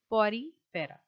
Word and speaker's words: Porifera: It is not very difficult, but Porifera. Okay, this is how you pronounce this phylum.